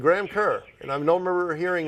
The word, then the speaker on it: Kerr: So then, in places like Ireland, it is Kerr is Kerr, as in Bill Kerr, the film actor of some time ago, South Pacific, etc. And then there's me. Now I'm a border Scot, which means that I'm in Scotland. It's always Graham Kerr.